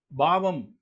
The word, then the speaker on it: பாவம்: புண்ணியம் பாவம் சொல்றோம் இல்லைங்களா அது பாவம் அப்படி உச்சரிக்கணும் பாவம் என்கின்ற அந்த டம் அந்த